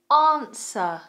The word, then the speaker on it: answer: Answer.